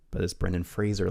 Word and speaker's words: Fraser: last name is uh rhymes with laser because a lot of people say Brendan Fraser but this Brendan Fraser like a laser yeah